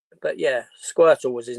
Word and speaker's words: Squirtle: Squirtle. Squirtle. Okay. It rhymes with turtle.